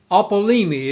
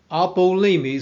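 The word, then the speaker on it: ἀπόλλυμι: Now, the New Testament Greek word, this is pronounced apollumi. It is It is the verb apollumi.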